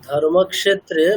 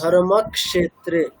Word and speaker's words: ধর্মক্ষেত্রে: হ্যাঁ ধর্মক্ষেত্রে মানে ক্ষয়কারের উচ্চারণটা কিন্তু স্পষ্ট হচ্ছে না।